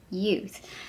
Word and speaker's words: Yeouth: youth it is pronounced youth i did find a video it's called it's pronounced youth but it's spelt y-e-o-u-t-h and their products can